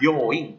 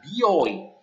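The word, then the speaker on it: 病院: rumah sakit untuk booing hati-hati ya pengucapannya booing bukan bioing ya kalau bioing itu b-nya disebut maka itu artinya bukan rumah sakit tapi artinya salon ya Oke sampai sini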